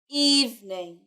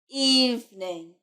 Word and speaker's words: evening: not even a it's evening listen to the sound in the middle it's not the sounds you put your teeth on your bottom lip evening evening evening very good